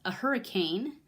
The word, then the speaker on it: Hricane: It's a Hricane is what they pronounce it as, even though it's not spelled quite that way.